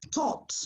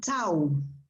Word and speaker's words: taught: is thoughts yeah and the pronunciation of this past tense is taught not tau taught thought i said